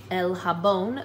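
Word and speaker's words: jabón: is the word soap el habon there's an accent on the o el habon um remember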